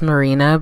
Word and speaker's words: Marjani: this is a pressed setting powder the correct pronunciation is marina beauty and it's a Swedish brand started by